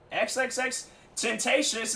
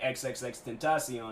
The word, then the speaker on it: XXXTentacion: man i'm telling you i was butchering his name could not pronounce it and then he came out on that radio station once when he got freed and then he was like xxxtentacion and i'm like okay